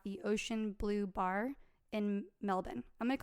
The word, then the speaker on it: Melbourne: They chat about meeting the next evening to get together at the Ocean Blue Bar in Melbourne. I'm going to call it Melbourne because I know it's Melbourne, but No, well, Australians they get say upset